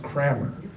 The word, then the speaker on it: karma: So, Charlie, I never thought that I would be, it must be our Georgia karma, but In Georgia, it's pronounced Crammer.